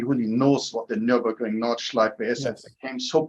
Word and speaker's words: Nordschleife: and I don't even fully know how to pronounce the Nordschleife. Nordschleife, yes.